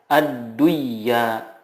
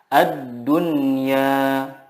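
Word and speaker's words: الدنيا: Contohnya, ad-dunya tidak dibaca ad-duyya, tetapi yang benar adalah ad-dunya. Bunyanun, qinwanun, sinwanun.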